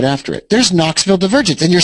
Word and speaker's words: Knoxville: oh you know what I think the K is silent Knoxville Divergence at the high